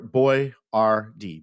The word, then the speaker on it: Boyardee: back by then he changed his name to to boy boy r d Bo y- a r-de because people couldn't pronounce it and what a genius